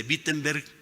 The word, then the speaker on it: Wittenberg: hermanos en la puerta de la iglesia de wittenberg se escribe con doble o se pronuncia con b